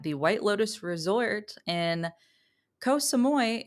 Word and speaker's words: Koh Samui: White Lotus Resort in Koh Samui, if you're saying it phonetically like a white person. But I think is more like Koh Samui.